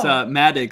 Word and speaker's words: Madaug: It's Madaug, like mad dig, and you slur them together.